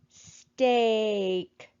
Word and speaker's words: steak: Now let's look at our last word, steak. We're going to underline our digraph EA. We're going to put a macron over the A because it is making the long A sound. And we're going to cross out the E because it is silent.